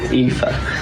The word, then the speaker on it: Aoife: Is it Ophi? Try again. Eoffy? No. Ew? No. Ow. Ow. What is it? Aoife.